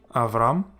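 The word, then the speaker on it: אַבְרָם: Then we have a Shewa following a short vowel, namely a patach, and hence it is silent. Avram, Abram. Next we have this word,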